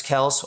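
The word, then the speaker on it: Kelce: on injury updates uh Travis Kels or Kelsey uh correct pronunciations Kels but tomato tomato from from the source so Kels he probably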